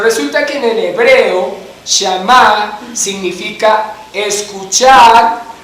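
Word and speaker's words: שמע: En el Antiguo Testamento se utilizaba el hebreo, y en hebreo la palabra obediencia se pronunciaba shamá.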